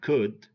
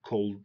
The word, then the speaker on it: could: And we have could, would, should. You know? We don't say cold, would, should. It's could, would, should.